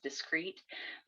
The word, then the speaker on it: discrete: as this english word they sound exactly the same you pronounce both of these as discrete but this one means